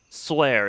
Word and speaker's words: 翠儿: Swear is how you pronounce that name. Swear. Okay. Yeah, everyone's terrified of Master Xing. Remember when he almost killed Suyer?